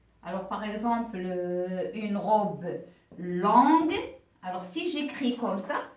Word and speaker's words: longue: par exemple une robe longue alors si j'écris comme ça ça se prononce l'ange mais je veux une robe qui est longue longue donc je vais ajouter le U avant le E donc mes chers pour